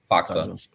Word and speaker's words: Faksa: Faksa.